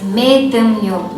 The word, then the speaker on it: Medumneo: The term Medumneo encompasses of three syllables, that is Medumneo. Me, which means soul or spirit, Dum, which means wrap, and Neo, which means feast. So, which means soul wrapping festival.